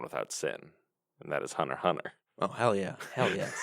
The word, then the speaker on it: Hunter x Hunter: I can see it are you are you supposed to say the X I was told not to say the X I was told that too but I refused because ah I see a